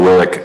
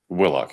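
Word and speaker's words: Willock: Willick, uh, am I pronouncing your last name correctly? Willlock, your honor. Willlock. Mr. Willlock.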